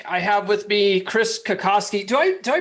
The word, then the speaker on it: Kokoski: have with me chris kakoski do i do i pronounce that right chris is it kakosky it it that is actually is the correct polish pronunciation but my dad raised me to say kokowski so that's what i